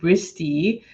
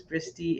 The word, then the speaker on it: Bristy: It's like Christy but with a B. And like, so then it was like, yes, like, okay, so my daughter's name is Bristy.